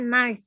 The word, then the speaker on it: knives: pisau itu bahasa Inggrisnya knives ya walaupun tulisannya pakai k Tapi saat dibaca k-nya tidak perlu dibaca Jadi kniv itu